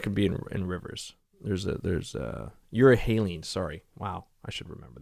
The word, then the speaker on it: euryhaline: And these are how do you pronounce it? Urethane? Anyway, sharks that could be in rivers. There's euryhaline.